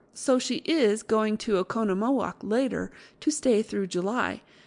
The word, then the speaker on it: Oconomowoc: Easy enough when you have it. Accent on second syllable.